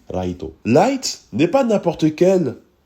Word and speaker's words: Raito: un lycéen qui s'appelle Yagami light de la prononciation japonaise ça se dirait plutôt Yagami Raito light n'est pas n'importe